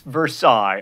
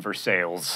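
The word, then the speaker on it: Versailles: way not an accessory it's versaille unless you're in kentucky or indiana in which case you are in for sales and speaking of the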